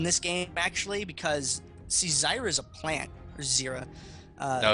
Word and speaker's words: Zyra: Yeah, he's got that deforestation in this game, actually, because, see, Zyra's a plant. Or Zira. No, it's Zyra. It's actually Zyra? If you call it Zira, I'm going to find a way to hit you through this internet.